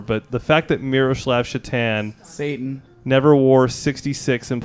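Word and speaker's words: Šatan: I believe it was pronounced Satan.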